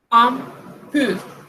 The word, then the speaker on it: impur: Con el IM, sucede lo mismo, solo que con M. Empathique, empathique. Impur, impur.